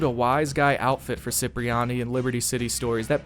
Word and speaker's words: Cipriani: he pronounces his name Cipriani. I'm Cipriani, bitch. Cipriani, remember that. To make matters even more confusing, the proper Italian pronunciation is Cipriani. Italian, Cipriani.